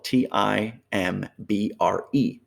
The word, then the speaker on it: timbre: that correctly so uh timbre would be spelled t i m b r e but pronounced timbre okay i know it's it's strange